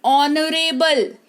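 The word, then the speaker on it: honourable: ऑनरेबल यानी कि माननीय।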